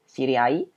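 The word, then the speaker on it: 知り合い: sirimas dan au tadi tapi kali ini dibacanya adalah Ai Siri Ai sirimas itu artinya tahu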